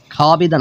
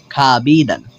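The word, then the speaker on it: خوابیدن: শুধু এতটুকু জেনে রাখুন যে এখানে ওয়ার উচ্চারণটা হবে না, শুধু আলিফের উচ্চারণটা হবে।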